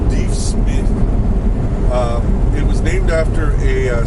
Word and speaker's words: Deaf Smith: Dave Smith County most people including residents here pronouncing deaf Smith but it's pronounced D Smith it was named after a scout and soldier